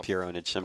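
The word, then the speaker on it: Pure Pwnage: Pure Onage. Technically, they pronounce it Pure Onage. Well, there you go. But yeah, spelled Ponage. I am a huge Pure Onage fan, and I just wanted to include this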